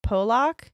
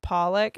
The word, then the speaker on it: Pollock: She pronounced it Pollock. Uh-huh. And then I read her get annihilated in the comments, oh, by people who are from, I believe it's in England. Mm-hmm. So people who were from England were like, it's pronounced Pollock.